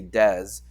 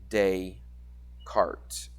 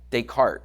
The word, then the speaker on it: Descartes: So the S is silent, so you wouldn't say des, but you would say Descartes.